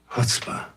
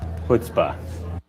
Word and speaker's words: chutzpah: maybe I'm saying it wrong. There's a word for that. Let's just use chutzpah. That's how I say it. I say chutzpah, but it sounds like a lot of people say chutzpah.